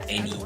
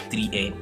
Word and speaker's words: Eni: I was pronouncing your name as 3 N.